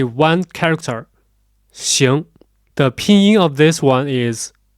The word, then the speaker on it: 行: But we use velar nasal or back nasal, which means the position of pronunciation is at the back part of your mouth.